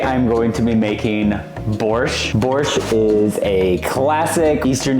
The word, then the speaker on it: borscht: was talking about I don't know why borch is spelled with a t in English because in Russian there's no T sound in it at all it's just b o r sh so borch the main ingredients in